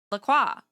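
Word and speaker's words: La Croix: The French Laqua means the cross pronounced Laqua and some English speakers use approximate approximation of this to refer to the brand brand.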